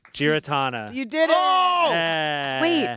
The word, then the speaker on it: Giarratana: I thought it was Giaratana. You're kidding. See? Giratana. Here's the thing. You actually can't say it wrong. Giratana. Giaratana? Yeah. No, those that's are all, just wrong. That's just wrong.